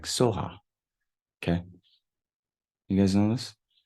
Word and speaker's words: Svaha: Now, here you see more like Svaha, but the Tibetans say more like Soha.